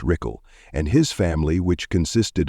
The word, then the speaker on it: Ruchel: The last occupant of the house was a man named Lee Ruchel, pronounced Rickle, and his family, which consisted of his wife and daughter.